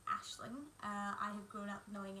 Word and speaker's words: Aisling: So as many of you know, my name is Aisling, which is an Irish name, so usually it's pronounced Ashling. I have grown up knowing it as Aisling, and therefore I will